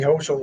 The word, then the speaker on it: Hochul: He resigned this morning, and former Lieutenant Governor Kathy Hochul was, I think I pronounced that right, was sworn in at 12:01 this morning. How do you spell it? H-O-E-S-C-H-U-L? H-O-C-H-U-L.